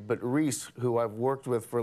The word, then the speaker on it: Reese: But I got all of those names right, but Reese, who I've worked with for like a year, I right. got her name wrong. I called her Reith.